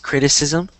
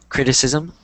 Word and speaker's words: criticism: one I mean um this word is pronounced criticism so if you don't know that pronounce that after me criticism criticis criticism good uh